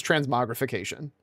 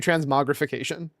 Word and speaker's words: transmogrification: I think people actually do pronounce the R. It's not actually silent. It is transmogrification. To be super clear, the R is not silent. It is actually transmogrification.